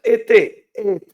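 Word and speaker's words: עת: Se pronuncia et.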